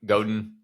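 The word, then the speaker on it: Godin: Goden. Goden. Thank you. But that may not be right. Okay. That's how it looks to me, but it may not be right. So, Seth Goden just to have some uniformity.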